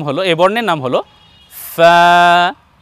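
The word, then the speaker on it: فاء: এই বর্ণের নাম হলো ফা। উচ্চারণ করতে হবে এইভাবে, সামনের উপরে সম্মুখ ভাগের দুই দাঁত এবং নিচের ঠোঁটের ভেজা অংশ থেকে লাগিয়ে উচ্চারণ করতে হবে ফা ফা।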